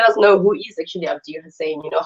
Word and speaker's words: Abdi Hussein: Abdi Hussein. I did pronounce it right, right? Yes. Yes, Mr. Abdi Hussein.